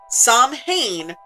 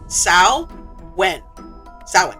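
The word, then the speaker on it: Samhain: Next time on the Pandemonium Witches, it is not pronounced Sam Hayne or Samhane. It's pronounced Sao when sin or Sam Hine like some shows we know.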